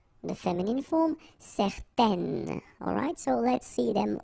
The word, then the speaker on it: certaines: Okay, if you add this at the end, then it will change the thing, and then you will pronounce it N. Okay, so the masculine form, certains, the feminine form, certaines.